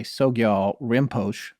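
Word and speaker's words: Sogyal Rinpoche: the tibetan book of living and dying by sogyal rimpoche i'm not sure if i'm saying his name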